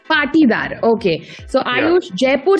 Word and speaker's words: Patidar: आयुष, मैंने आपका सरनेम जो है ठीक तरह से प्रोनाउंस किया है? Yes, more or less. It's Patidar. I want to get perfect. Tell me, how do I say the second name? It's actually Patidar. Patidar.